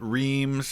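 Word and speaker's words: Reims: So, this is pretty cool because uh I know he pronounced it rhymes and in World War II a lot of soldiers pronounced it reams and it's probably more close in French to like or something like that.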